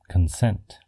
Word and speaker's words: consent: And consent. can also be both a noun and a verb, but always follows the verb pronunciation pattern, consent. But if you remember the